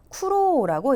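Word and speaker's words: 苦労: 자, 그리고 고생할 때 쿠로라고 읽는 한자. 얘는 여러분 우리말의 고생이라고 읽히지 않아요.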